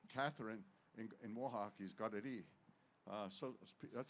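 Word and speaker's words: Kateri: So Katherine in in Mohawk is Gadi. Uh so that's how you're supposed to pronounce it. Some people call it uh Katari or uh uh other names but it's in our language it's it's got Takquita.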